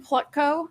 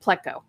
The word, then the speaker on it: Plutko: research guys there adam plutko no wait that's not how you say his name pleco that's it of baltimore